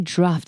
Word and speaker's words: Dhruv: And then I realized, I didn't know how to pronounce the name of that band. It's apparently Dhruv.